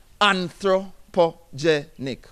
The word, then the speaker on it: anthropogenic: It's a word that says anthropogenic. Oh God, how many syllables is that? Anthropogenic. 5 syllables. But I wanted to carry